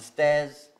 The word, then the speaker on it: stairs: And the stares, scritte diversamente, però pronunciato uguale. Stares, sguardi. Stares, le scale. Up the stairs.